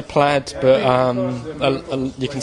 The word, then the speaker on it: Plaid: here with Ed from plaid how do you pronounce it we say plaid but um you can say play if you like apparently a lot of people